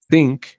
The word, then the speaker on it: think: verbo miren que este verbo think think se pronuncia con th think Es uno que está